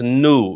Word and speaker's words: no: And it's nu rather than no, because you would be mind possibly to pronounce it as no, because if you know that from English.